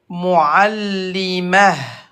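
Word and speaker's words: معلمة: Et à l'arrêt, le T fermé se prononce comme ha, muallimah. Wa alaykoum assalam, tout le monde. Muallimah. At-ta marbouta, le T fermé, se prononce comme ha avec soukoun à l'arrêt.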